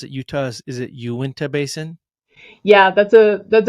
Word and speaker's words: Uinta: Fork petroglyphs um sure I think you you pronounce it Utah's is it Uinta basin yeah that's a that's a big one